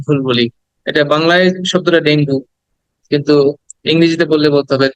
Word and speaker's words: Dengue: আমরা এটাকে অনেক ভুল বলি এটা বাংলায় শব্দটা ডেঙ্গু কিন্তু ইংরেজিতে বললে বলতে হবে ডেঙ্গি ডেঙ্গি ডেঙ্গি হ্যাঁ ডেঙ্গু বাংলায় বলা যাবে কিন্তু